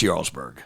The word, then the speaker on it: Jarlsberg: Am I pronouncing that right? Jarlsberg. Jarlsberg. It's Norwegian. It's Jarlsberg.